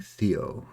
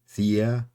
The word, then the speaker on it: Theia: Why do I keep saying Theo? Of course, it's another unpronounceable made up word. Theia.